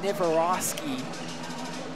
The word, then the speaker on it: niosi: soccer coach coach Remy I believe his name is pronounced niosi or at least that's